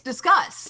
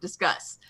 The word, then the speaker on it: Disqus: And no, apparently it's discuss. Yeah, I know, but it looks like discus. Yeah, we talked about this. And they said it's pronounced discuss.